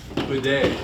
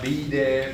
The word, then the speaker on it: bede: But now, I go, bede, bede, bede. Not be de, but bede. It's just that one syllable, bede.